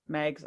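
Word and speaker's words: Meigs: mags how do you say his name because Megs okay good he ends up going down there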